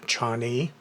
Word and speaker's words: Chani: from Mars is robot which I guess is pronounced Chan and uh I'm going